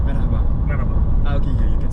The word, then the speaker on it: merhaba: example, merhaba.